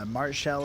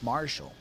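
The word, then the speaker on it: martial: Marshall is how it's pronounced. Sword and board classes. Marshall.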